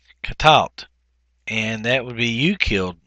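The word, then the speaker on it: קָטַלְתָּ: And of course, the accent is in the middle syllable and not on the end.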